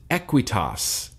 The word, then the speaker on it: Aqueous: from the cool kids club he says it's pronounced equity US equity US equity US I feel like Sherlock